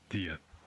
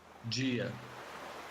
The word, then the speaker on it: dia: Another characteristic difference is the pronunciation of D followed by I. In Portugal, it's pronounced D or the, usually when between vowels. In Brazilian Portuguese, it's G. For example, the word for day.